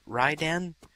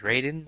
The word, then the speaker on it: Raiden: yeah and then I'm going to call him Ryan even though his name is Raiden and people are going to get so mad